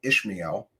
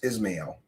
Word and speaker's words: Ismael: and by the way, I have heard people call him Ishmael, and I've heard people call him Ismael or Ismael. Um, I believe it's Ismael. There's no H there.